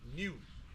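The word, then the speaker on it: niu: The stages that I'm going to share is something we call in our language new. Okay, pronounced like N-E-W, but spelled N-I-U, new, which is the green ones or the young ones.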